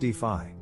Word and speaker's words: DeFi: decentralized finance is also known as d phi pronounced d5 it is the umbrella